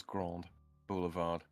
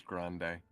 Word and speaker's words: Grand Boulevard: with it it's in they better be pronouncing that as Grand Boulevard I'm going to be very very upset if his Grande no it's just it doesn't matter if easer it's just Grand yeah yeah yeah yeah